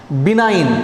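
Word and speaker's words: benign: बिनाइन, यहाँ G silent रहेगा, याद रखिएगा।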